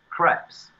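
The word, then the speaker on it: crêpe: Coe's Crepes. French what? Style pancakes. What's it called? The business was called Coe's Crepes. Crepes. As in, no, see, this is the CREPES. Crepe. It's French.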